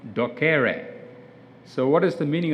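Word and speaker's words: docere: i realized this is greek for duck duck docker docker so one of my medical students said this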